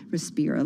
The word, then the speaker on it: Respira: Respira, let me say it correctly, Technologies, was 16 years at Altria Group.